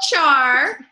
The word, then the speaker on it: Owchar: My name is Owchar, pronounced Owchar, and I got to National Marketing Director in spring 2014.